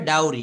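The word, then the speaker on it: dowry: চায় যৌত চায় উচ্চারণটা হবে ডাউরি ডরি মানে হচ্ছে যৌতুক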